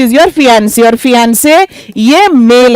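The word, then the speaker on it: fiancé: आगे यहां देखो यह वर्ड है फियंसी और इसके बगल में ही एक और लिखो एफ आई एन सी ई और इसकी प्रोनाउंसिएशन क्या है इसे ऐसे प्रोनाउंस करते हैं फियंसे मेरे साथ बोलिए फियंसे ओके फियंसी क्या होता है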